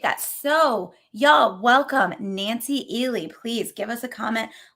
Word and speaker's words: Ehle: you're talking and because in my my brain i had always pronounced it eel it's actually eeli yes and you know